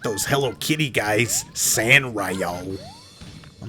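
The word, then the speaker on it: Sanrio: And he's like, "Well, at least I'm not like those Hello Kitty guys, San Rio." I'm like, "Oh, is that how you say it?" I always thought it was Son Rio.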